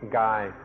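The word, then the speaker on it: กาย: The original word the Buddha used was Gaya, and this word also occurs in Thai and is pronounced Gai.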